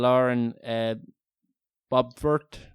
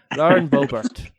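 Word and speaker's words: Boebert: Christian mentaler, and we were kind of arguing over how her surname is pronounced. I think we settled on Lauren Bobert.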